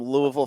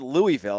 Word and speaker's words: Louisville: edit my voice here I talked to some Louisville fans it's Louisville I I keep it's not